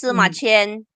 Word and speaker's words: 司马迁: Okay, this is how to 司马迁 pronounce Sima Qian.